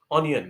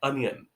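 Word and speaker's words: onion: आप इसको कैसे बोलते हैं? ऑनियन, right? Well, ऑनियन इज an incorrect pronunciation. इसका एक्चुअल प्रोनाउंसिएशन होता है अनियन। सिंपल है ना? अनियन। तो अगली बार आपको जब प्याज खरीदना हो then call it अनियन एंड नॉट ऑनियन।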